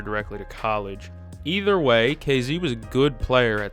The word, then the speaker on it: KZ: Let me look up, is it pronounced KZ or Kezi? It is KZ.